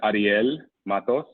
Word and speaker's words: Ariel Matos: Mine is Ariel Matos.